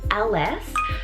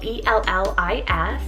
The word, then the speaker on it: Ellis: to my next name which is the name ls so it's called e-l-l-i-s and that is a welsh originated name meaning